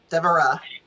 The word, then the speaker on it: Devara: Devara. Devara. Okay, great. Yeah, Devara. Devara. Okay, emphasis on the Egyptian Ra.